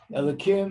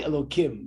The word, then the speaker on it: Elokim: We only say Elokim, but it actually spelled with a hey.